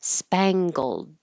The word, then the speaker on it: spangled: This is interesting because we have an NG combination and we do make the spang with the tongue high in the back, but then we do bring it down g and make a hard G for gold.